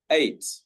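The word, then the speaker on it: eight: We do not say the G-H. We just say 8.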